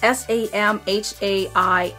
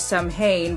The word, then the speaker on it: Samhain: It is spelled as S-A-M-H-A-I-N. I thought it was Samhain, but it is an ancient Celtic celebration, something like that.